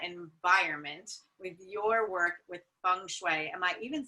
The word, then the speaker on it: Feng Shui: And Kate, you are an expert on creating that environment with your work with Feng Shui.